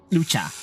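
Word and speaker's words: Luocha: I can't pronounce his name. Blade, Lady Jade. This is the guy I was talking about. Lucha.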